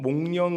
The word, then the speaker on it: 목련: 한번 인사했으면 좋겠습니다 어 발음을 잘하셔야 됩니다 발음을 잘하셔서 당신은 몽년 같은 고귀한 분입니다 예 발음 잘하시고 당신은 목련과